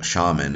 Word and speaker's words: shaman: channels it's gone through it's most likely that that Shaman is the more accurate pronunciation anyway thanks for watching